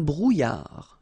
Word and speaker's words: brouillard: Un éclair, une brume, un brouillard. Final D not pronounced.